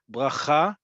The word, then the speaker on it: bracha: Doesn't matter how you say the letter resh, it does matter that the last syllable gets the emphasis.